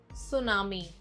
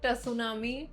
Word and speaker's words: tsunami: Word 19, tsunami, not tsunami. Tsunami. इसको अक्सर लोग गलत प्रोनाउंस करते हैं, but the T is silent.